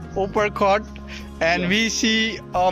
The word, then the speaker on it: Uparkot: It's pronounced as Uppercut, and Yeah.